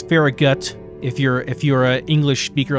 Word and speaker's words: Farragut: And then we'll travel back to Falagut. I don't know why I'm saying it like that. It's Farragut.